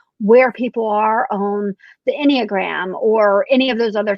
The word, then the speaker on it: Enneagram: I've not done as much, I'm going to mispronounce it, the Enneagram.